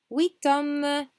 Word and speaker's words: huit hommes: Huit hommes, we do pronounce the T.